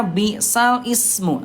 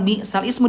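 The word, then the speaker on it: بئس الاسم: Oke, ayah Bunda ini tulisannya di Quran nanti bundanya bal ismu. Ah, ya ini Bunda tulisannya bal ismu. Tapi ayah bunda cara bacanya bukan bal ismu dipindahkan harakatnya menjadi balismu.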